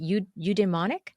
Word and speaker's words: eudaimonic: of happiness with your idea of, is it eudaimonic? How do you Mm-hmm.